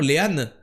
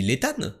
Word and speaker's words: Léane: Le T dans l'état se prononce? Je pensais pas. Non, ça se prononce pas, mais moi, oui. En fait, j'avais jamais capté qu'elle avait écrit son prénom, Léane. Et moi, quand elle est arrivée, j'ai dit Létane, parce que je fais les liaisons, tu vois, je parle le français.